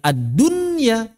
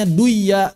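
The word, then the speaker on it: الدنيا: Seperti tadi kata ad-dunya. Kita baca apa? Ya ad-dunya. Kenapa kita tidak membacanya duya? Karena kalau kita baca duya, orang-orang Arab sendiri bingung. Apa maksudnya duya?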